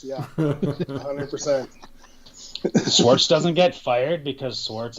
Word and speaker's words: Schwartz: rhymes actually, with quartz, right? It rhymes with fucking fire quartz. Yeah, 100%. Schwartz doesn't get fired because Schwartz is awesome.